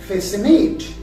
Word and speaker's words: fascinate: later i discipline another example is fascinate fascinate is spelled as f a s c i n a t e facinate so in face state again c comes between s and i here the c is also silent and the last example